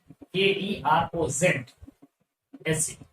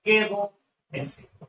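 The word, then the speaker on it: Caro's acid: Keroz acid. Z is silent, so the name is Kero acid.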